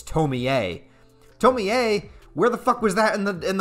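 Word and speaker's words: Tomie: my review of tomi i just pronounced it tomi because it's spelled t-o-m-i-e that just makes sense to me but everyone's saying no it's tommy a tell me a where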